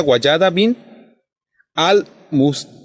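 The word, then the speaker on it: Wallada bint al-Mustakfi: fallecimiento de la ilustre poeta andalusí, así se pronuncia, Guayada bin al-Mustafi.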